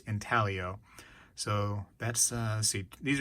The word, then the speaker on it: intaglio: right here comes from the intalio mint or intaglio depending on you know the tomato tomato thing i think it actually is pronounced intaglio so that's uh see